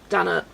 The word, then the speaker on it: Dana: Dana rhymes with Hannah.